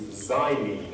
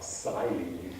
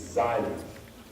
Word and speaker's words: xylene: By the way, the pronunciation of this word is xylene, as though the first letter was Z. Don't try and pronounce it as an X, like xylene. You can't pronounce that. It's xylene, as though it's a British Z.